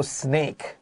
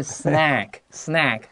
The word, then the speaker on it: snack: Almost everyone loves a good snack.请你不要说 snake 啊！如果说今天你特别爱吃蛇的话，可以讲 snake 哈、哦，但是不是这个字的发音是 snack，不要把人家吓跑了哈、哦，发音要够准确哦。所以第一段的第一句话他说，almost everyone loves a good snack，意思就是几乎每个人都喜欢吃个零食什么的。